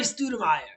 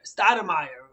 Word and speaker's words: Stoudemire: the news but amari stuttermeier stadamire would be the right way to uh pronounce it who was a